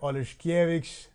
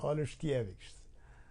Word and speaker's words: Oleszkiewicz: Darek Oleszkiewicz. Am I pronouncing it right? That was You got it. Perfect. Oleszkiewicz.